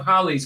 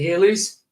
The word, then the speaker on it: Halley's: But they just pronounced it Halley's. What? Well, to me it was Halley's, like Bailey's, the drink, but with an H.